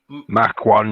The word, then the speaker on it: Mach: Mac 1, yeah. M-A-C-H. Yeah. Mac 1. Well, you could say it either way, but it's supposed to be pronounced Mach. Like you're going Mach 1, right?